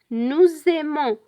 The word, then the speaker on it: nous aimons: we have to say nous aimons, vous aimez, ils aiment. We pronounce the Z sound because we make liaison between the S and the A of the verb aimer.